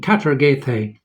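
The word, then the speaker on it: καταργηθῇ: And it's this Greek word here, which has an anglicized pronunciation, katargethe.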